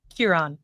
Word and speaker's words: Ciarán: said your name wrong Kiron because you have an accent on the a don't you yeah you're right yeah okay my apolog like an O now you're all good